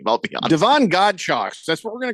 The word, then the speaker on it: Godchaux: name right, but Devon Godchaux, is that his name? I don't know how to pronounce his name. I'll be honest. Devon Godchaux. That's what we're gonna call him. Like nunchucks, but with God.